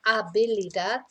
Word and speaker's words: habilidad: Okay, so in Spanish, of course, we don't pronounce the H, so it's la habilidad.